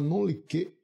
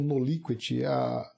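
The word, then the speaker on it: non liquet: Então, a ideia se relaciona ao que se chama non-liquet. Alguns chamam noliquet, eu prefiro a expressão non-liquet, relacionando a pronúncia em francês, parecida, semelhante, né? Non-liquet, que significa você deixar de julgar a causa porque existe uma lacuna.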